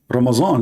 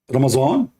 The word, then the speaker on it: Ramadan: Ramazan, look this guy, he make it Ramazan. You see this guy, maybe he's a Turkish. Ramadan became Ramazan. Okay. Even they are changing the pronunciation for the words in Arabic.